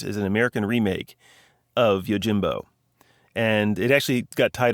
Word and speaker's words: Yojimbo: film uh titled yo is it Yojimbo it's Yojimbo yeah Yojimbo means body y Jimbo this The